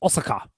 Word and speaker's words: Osaka: This is going to be held in, I'm probably saying this completely wrong, Osaka in Japan. Osaka? I think you'll find it's pronounced Osaka.